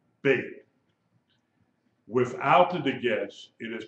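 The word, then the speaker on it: בּ: The letter bait with a degesh is pronounced like a B. B as in boy, bait.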